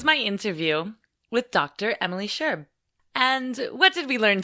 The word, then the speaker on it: Scherb: Emily Scherb, I should say. And great pronunciation of my last name.